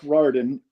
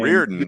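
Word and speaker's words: Rardin: year of uh Mark Rarden is his name. Rearen. Rear. It's said not like you spell it. It's reared like like like reared in like the reliever for the expose a million years ago.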